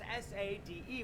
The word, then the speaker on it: Sade: Like a Tattoo by Sade, or as I like to call her, Sade, because it's S-A-D-E.